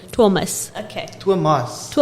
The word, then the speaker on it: Thomas: mosque oh exactly so i'm learning the afrikaans pronunciation it's thomas okay to a mosque